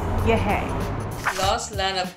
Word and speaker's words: Yehey: and so I think it's been made clear it's pronounced yeah hey Jay Leno yeah Eddie